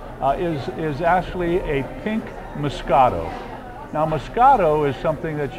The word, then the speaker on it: moscato: a grape and uh in america now we call it musket it's just our way of pronouncing it it's the same exact